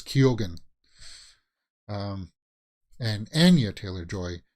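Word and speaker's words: Keoghan: it pronounced t-o-n-q-n but he himself said that he pronounces the g in it so it's kyogen um and Anya Taylor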